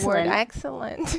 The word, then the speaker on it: excellent: The accent in the word excellent is on the first syllable.